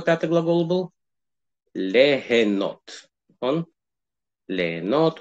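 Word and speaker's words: ליהנות: Легенот у нас переводится как? Легенот. С юдом пишется, но мы ее не слышим.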